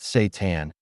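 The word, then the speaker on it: seitan: Satan, pronounced Satan, it's sometimes called wheat meat because it's made from wheat gluten.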